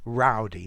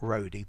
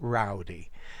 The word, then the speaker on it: rowdy: it's pronounced rao and that's why rowdy not roadie but rowdy um okay so a